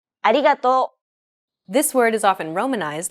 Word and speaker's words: ありがとう: This character isn't pronounced using an English R sound at all. り. It's like a mixture between an R and an L sound.